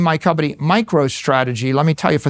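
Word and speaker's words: MicroStrategy: Now, right now I name my company Micro Strategy. Let me tell you, for 30 years, half our customers mispronounced it. Micro Strategies.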